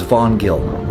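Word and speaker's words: Hvanngil: The correct pronunciation is vongill.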